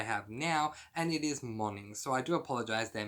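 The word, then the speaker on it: Moning: was this book, which I'm going to now pronounce this author's name correctly, Karen Marie Monning. I believe that in my midweek review I was calling her Karen Marie Moaning.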